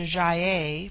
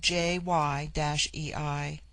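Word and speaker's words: Gy-ei: It forms itself into Jaye for the plural, but the G becomes soft in the plural, like jy-ei.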